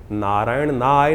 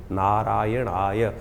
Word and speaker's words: नारायणाय: नारायणाय नारायण नारायणाय, नारायण नाय नहीं है, नारायणाय, ओम नमो नारायणाय, इस मंत्र का इसका स्तवन करें।